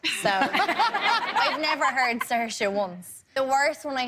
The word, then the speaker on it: Saoirse: What's the worst butchering of it you've ever heard? I mean, everything except for Saoirse. So I've never heard Saoirse once.